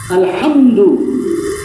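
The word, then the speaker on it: الحمد: হতে হবে শিখো তুমি প্রত্যেকটা অক্ষরের সঠিক উচ্চারণ শিখো আলহামদু আলহামদু হামদু হবে না আলহা হা আলহামদু লিল্লাহি এটা হলো হা লিল্লাহি এখানে লিল্লাহি আলহামদুলিল্লাহি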